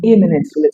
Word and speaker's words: imminent: The pronunciation is quite close to eminent but not exactly the same thing. Eminent begins with a short vowel sound and you have a sho sound at the final syllable.